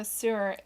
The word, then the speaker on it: Suhr: He says, I have a Suhr, S-U-H-R, is that how you say it? Mm-hmm, sure, yeah.